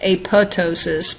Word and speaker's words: apoptosis: it to kill itself we call this apoptosis it is probably I believe more properly pronounced apotosis but I've heard both it is um programmed